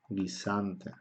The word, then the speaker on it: guisante: La U hace que la G se pronuncie de forma suave, pero la U en sí no se pronuncia.